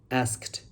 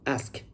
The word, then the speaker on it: asked: Some people would say asked, but you missed the time. The correct pronunciation is asked. Missing sound can make sentence unclear because you make the past tense into present tense.